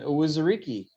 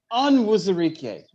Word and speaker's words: Onwuzurike: Owuzurike. That's real damn close. Yeah. Oh my gosh. Onwuzurike. Okay, I missed the N.